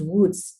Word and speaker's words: wootz: uruku which then becomes and then becomes woods uh woods is of course a very dutch way of pronouncing uh something so because